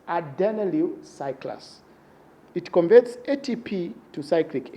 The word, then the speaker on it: adenylyl cyclase: When adenyl cyclase is activated, this pronunciation, you need to be very careful the way you pronounce these words. It's adenylyl cyclase.